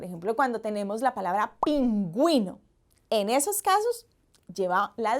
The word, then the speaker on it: pingüino: pero miren, por ejemplo, cuando tenemos la palabra pingüino, en esos casos lleva la diéresis y pronunciamos de esa manera, no decimos pinguino, decimos pingüino.